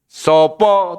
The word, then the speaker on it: sapa: Tetapi membacanya harus O. Sopo tulisannya sapa.